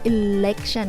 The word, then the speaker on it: election: มีใครรู้บ้างว่า คำว่าเลือกตั้ง ในภาษาอังกฤษ คือคำว่าอะไร คำว่าเลือกตั้งในภาษาอังกฤษ คือคำว่า แต่ว่า ต้องพูดแบบนี้นะ Election แบบ เล็ก แบบ เล็กๆอ่ะ ถ้าเราออกเสียงเป็น ร แบบตัว R จะให้ความหมายอีกอย่างนึงนะ ถ้า พูดว่า.... จะเป็น ความหมายเกี่ยวกับ การตั้งตัว ของอวัยวะ เพศชาย เพราะฉะนั้นอย่าออกเสียงผิดนะ Election เล็ก แบบเราพูดคำว่าเล็กอ่ะ ถ้าเราพูดคำว่า Erection จะแปลว่าการตั้งตัวของอวัยวะเพศชาย โอเค วันนี้มีแค่นี้ ขอให้คนไทย